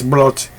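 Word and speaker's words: Brot: that's what I like boats that's how you say it in German so that's brought apparently German the best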